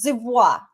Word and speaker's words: Dubois: It's Dubois. That's how you really pronounce it.